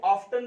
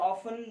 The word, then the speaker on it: often: We often blame, देखो इसको often भी पढ़ा जाता है या often ज्यादा बेहतर है, ब्रिटिश इसका एसेंट है, वो often टी साइलेंट रहता है, इसका अक्सर प्राय अर्थ होता है।